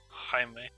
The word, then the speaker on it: Jaime: It is not Jamie. Jaime? Jaime. It must. Or is it Jamie? It's not Jamie. There's no way.